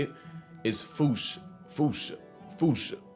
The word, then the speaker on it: fossa: Basically the A at the end is like almost silent.